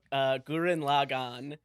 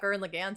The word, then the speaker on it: Gurren Lagann: Yeah, today we're going to be talking about Gurren Lagann. I've been pronouncing that wrong for a long time.